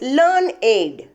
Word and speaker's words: learned: We pronounce it as learned. Two rhymes with created, waited.